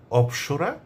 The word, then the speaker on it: অপ্সরী: এই অফ থেকেই অপসরা কিংবা অপসরীর উৎপত্তি।